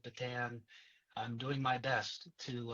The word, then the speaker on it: Bataan: I've come to learn to pronounce it properly. Batan, Kurrigodor, Prisoner of War. Yeah, it's one of those things. It's uh teaching an old dog new tricks. I grew up saying batan.